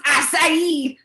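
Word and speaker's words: açaí: welcome can you sir special please it's pronounced acai berry so that comes with the wheatgrass some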